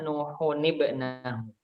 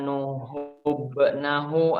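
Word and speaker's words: نوحٌ ابنه: Kok bukan nuhubnahu atau nuhum nahu? Di situ karena ini uniknya ini kalau ada tanwin lalu setelahnya alif berharokat sukun tuh ya. Kalau misalkan dilihat di masing-masing mushaf itu kan ada alif, lalu di atasnya ada lingkaran bundar gitu ya. Di sini kita bacanya tanwinnya kita berikan tambah kasroh. Jadi nuhunibnahu.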